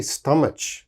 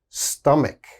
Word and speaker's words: stomach: often mispronounce same problem there's a ch so they say stomach oh please don't say stomach never say that it is always stomach stomach strong k sound here stomach all right and